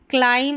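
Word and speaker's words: climb: CL जो रहता है इसको क्ल पढ़ते हैं, TH है यहाँ पर, इसको थ पढ़ा गया है, तो यहाँ MB को म पढ़ेंगे, म पढ़ना है, B साइलेंट है।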